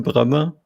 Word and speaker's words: Bremer: the invite funny enough my last name most germans can't even pronounce so it is bremer and every time i say it over the phone they say brahma brahma what but i didn't get